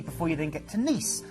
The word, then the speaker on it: Nice: you then get to nice it is pronounced ni although it is very nice and this is the